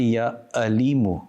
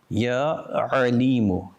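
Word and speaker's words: يا عليمُ: The makhraj of the Ain is from the center of the throat. Do not say Ya Alimu with a Hamza. This meaning is completely different. Ya Alimu.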